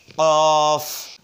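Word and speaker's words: ق: ফা ফা এবার আসুন কফ কফটা উচ্চারণ হবে জিহ্বার গোড়া তার বরাবর উপরের তালুর সঙ্গে লাগাইয়া জিহ্বার গোড়াটা উপরের তালুর সঙ্গে লাগাইয়া কফ শব্দ হবে কফ কফ তাহলে ফা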